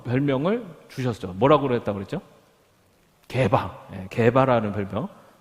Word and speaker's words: 게바: 게바라는 별명. 발음을 잘 하셔야 해요. 게바입니다. 게밥이가 아니고 게바.